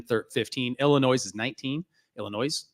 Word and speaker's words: Illinois: 15 Illinois is 19 Illinois Illinois there's there's an s in there silent s man I'm still Hooked on